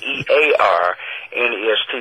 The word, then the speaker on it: Earnest: Now what you have to note is you spell it E-A-R-N-E-S-T, so it's more like ear nest.